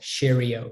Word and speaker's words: Sharyeo: SHARYEO, Shario. You would never spell it that way.